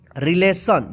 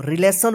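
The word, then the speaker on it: relation: मिलेगा तो क्या पढ़िए आप नेशन यानी स उच्चारण कीजिएगा जैसे जैसे यहां पे देखिए रिलेशन देखिए यहां पे आर ई एल ए टी आई ओ एन क्या पढ़ते इसको रिलेशन पढ़ते देखि टी के बाद आई ओ एन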